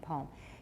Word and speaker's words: palm: palm of his hand palm he has absolutely no L and many Americans have no L at all but I say palm what gives you the